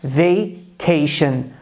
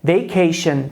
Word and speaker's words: vacation: Daí, quando eles se deparam com essa palavra, eles pensam talvez em vaca e reproduzem algo como vacation. Quando a pronúncia correta é vacation. Novamente, a pronúncia correta é vacation, que significa férias. Não tem nada a ver com vaca.